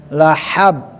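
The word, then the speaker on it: لهب: la na rong eh na na dza dan pengucapan ha dan ha lahab lahab ha bukan dibaca ha ah itu ya jadi mudah-mudahan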